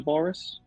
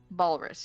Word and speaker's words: Balus: and and let Balus, did you say his name is Balorus? Balus. Yes. Balus will come out of